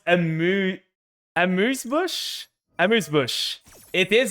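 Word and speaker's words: Amuse Bouche: Pronounce Amuse Bush? Amuse Bush.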